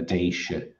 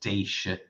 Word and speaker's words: Déisi: So in its modern form, it's spelled D-E for the I-S-E, and it's pronounced Déisi. And I think this older spelling, D-E for the I-S-I, would be pronounced similarly, Déisi.